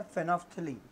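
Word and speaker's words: phenolphthalein: इसी तरह से फिनोफ्थलीन, देखिए यहाँ पर हम एल की प्रोनंसिएशन नहीं होती है, एन को साइलेंट रखा जाता है, ये है फिनोफ्थलीन.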